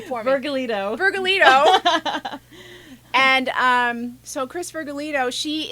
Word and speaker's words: Vergallito: I always say your name wrong. You say your last name for me. Vergallito.